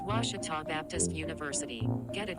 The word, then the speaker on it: Ouachita: searching for Baptist University back in Texas everybody pronounces it Witchita but really it's was was was how would you pronounce it was was it's was Baptist University get it right it's was people